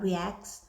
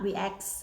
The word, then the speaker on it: React: or ask me about reacts uh react okay react not reacts or react okay I try to pronounce